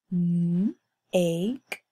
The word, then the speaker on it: make: M-ake, make. Remember, we have a silent E at the end here, so we don't make the E sound.